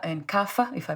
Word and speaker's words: Kapha: think you pronounce it, the Vata, Pitta, and Kapha, if I pronounced them correctly.